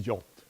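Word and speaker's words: JWT: packaging information and well the pronunciation is the jolt I don't know why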